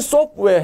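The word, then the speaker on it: software: T 발음이 잘 안 들려요. 왜냐하면 자음이 세 개가 있어요. FTW, W도 자음이죠. 반자음이라고 합니다. 그래서 소프트웨어, 소프트웨어가 아니고 소프트웨어, 소프트웨어. T 발음이 안 들려요.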